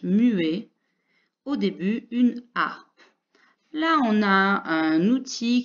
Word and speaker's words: harpe: musique qui s'appelle une harpe art et comme tu le voyais revoir une lettre qui ne s'entend pas et elle sera au début donc on aura 1 h muet au début une harpe là on a un